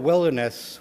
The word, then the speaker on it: wilderness: I'm talking about wilderness when we actually pronounce the word properly, because I think it should be pronounced wilder-ness.